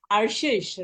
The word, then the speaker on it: Arshish: I hope you can pronounce it. Arshish, right?